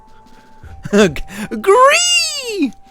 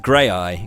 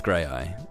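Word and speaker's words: Graeae: it it's it's pronounced tell me how you think that's pronounced gree that's just gray eye correct it's gray eye yes exactly it's Greek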